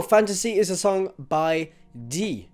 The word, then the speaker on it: DyE: So Fantasy is a song by DyE. I pronounce it D because he's a French artist and I live in France, and that's how they would pronounce that.